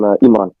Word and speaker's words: Imran: I'm Imran. Imran? Or how do I say it? Imran. Yes, you said it right. Imran. Yes, just like that.